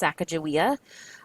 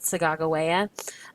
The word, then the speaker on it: Sacagawea: I know that there is, that most often we hear her name pronounced Sacagawea, but the Indian tribes in the part of the country that she was from, they pronounce it Sacagawea. And so it's not that big of a deal. It's just, I think by pronouncing it the correct way, it gives us another